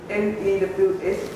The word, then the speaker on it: news: We say the E-W. EW is pronounced as a U. Ooh. So the N is pronounced mm, the EW is pronounced ooh, and the S is pronounced as a Z. So we say news.